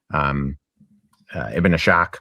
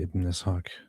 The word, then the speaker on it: Ibn Ishaq: David, don't try to correct him and say Ibn Ishaq. It is quite obvious to accidentally mispronounce it because it's an S and an H side by side.